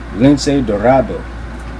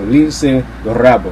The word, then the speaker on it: Lince Dorado: And then we got what I thought was the match of the night, Lince Dorado. He's Puerto Rican, so you got to do the Spanish pronunciation, habit of mine. So Lince Dorado, what the fuck is wrong with me?